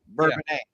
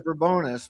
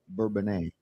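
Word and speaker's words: Bourbonnais: Burbanet. It was burbonous for many years like I grew up but then they changed it to the French pronunciation Burbanet.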